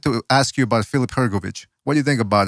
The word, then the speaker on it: Hrgovic: Hrgovic. You're about Hrgovic. Hrgovic, yes. Somebody in the chat room wanted to ask you about Filip Hrgovic.